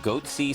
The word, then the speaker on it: Goatse: and they're getting the goatse picture they're called goatse security is that my pronouncing that correctly yeah that's right we're analyzing